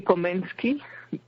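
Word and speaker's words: Komenský: Well, in Czech, I think they say Komensky.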